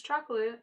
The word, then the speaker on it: Chocolat: She pronounces chocolate like chocolar. Please let me know if any of you say it like that. Like, seriously. If you want to make her seem pompous, then have her say it like the French do, like with the accent and everything, like Hotel Chocolat.